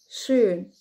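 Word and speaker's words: schön: مثلا كلمة اوسترايش اوسترايش اوسترايش النمسا، وزي كلمة شون شون معناها جميل. تاني نطق الحرف او او زي اوسترايش اوسترايش اوسترايش شون شون.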